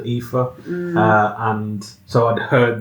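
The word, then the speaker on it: Aoife: it's like it spell it said epha but it's spell like a i o f EP I know it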